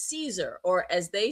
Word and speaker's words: Caesar: We look at the word Caesar and pronounce it in the English as CE, as a C, that sound. But in actual Latin Roman speaking, it was probably Caesar. Interesting.